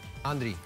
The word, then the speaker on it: Andry: ¿Cómo se pronuncia tu nombre? Andri.